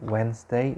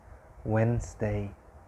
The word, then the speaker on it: Wednesday: the s and then wednesday you have silent d silent e and pronounce the s wednesday wednesday okay number four thursday